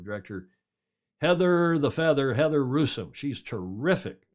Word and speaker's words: Russom: heather the feather heather russom she's terrific russian rhymes with gruesome that's how i remembered to pronounce her name she told me that